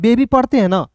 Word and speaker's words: baby: बेबी पढ़ते हैं ना, क्या पढ़ते हैं? बेबी पढ़ते हैं ना। तो यहाँ पे अंतिम में आया वाई है दोस्तों, इसका उच्चारण ई के रूप में हो रहा है।